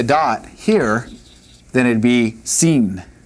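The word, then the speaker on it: שׂין: Now, if we put the dot here, then it'd be seen. Seen or sin, some people say, but Sheen would be what we'd have over here.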